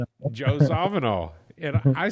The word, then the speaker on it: Zawinul: Joe Zavanol. And I say Zavvenol because I heard uh Cannibal Atly say it.